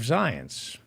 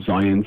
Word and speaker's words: Zients: Okay, and this is what you On the other hand, this is what you wrote about Jeff Zients.